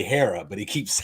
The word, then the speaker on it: Hera: should you should remember and just say say Hera but he keeps saying the green one and